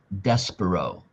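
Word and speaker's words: Despereaux: And in French, the last S X is silent. So, his name is Despero.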